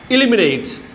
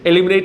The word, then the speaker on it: eliminate: നമ്മൾ ഇന്ന് പഠിക്കാൻ പോകുന്ന ആദ്യത്തെ വാക്കാണ് ഇലിമിനേറ്റ്. ELIMINATE. നമ്മൾ ഉച്ചരിക്കുന്നത് ശ്രദ്ധിക്കുക. U pronounce it ആസ് ഇലിമിനേറ്റ്. എലിമിനേറ്റ് എന്നല്ല, ഇലിമിനേറ്റ്.